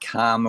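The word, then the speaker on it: kāma: Kama I'm talking about Kama with a long A you know there's sensuous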